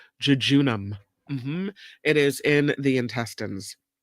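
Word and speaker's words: jejunum: body would you find would you find the junam where in the body would you find the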